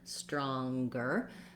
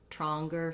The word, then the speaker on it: stronger: law longer longer again I have the NG sound plus the G sound in longer and in stronger so just lifting in the back and then releasing down for your G sound um and then if you have trouble with the St Str combination in stronger you can try just starting with the r raw wronger stronger stronger build it up that way also you can